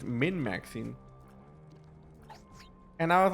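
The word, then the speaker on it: min-maxing: term for it a obviously I know that it's Min maxing like I said it wrong but it was for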